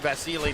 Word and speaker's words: Vasyl: So he pronounces his name Vasilei. That's why we're calling him Vasilei. Uh after we were incorrect the first two times we covered him back in the day, more than a year ago when we called him Vasile.